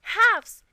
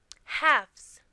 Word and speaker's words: halves: you call them have halves is the plural word of 1/2 and the L is silent but when you want to make it the plural you turn the F into a V halves so when you cut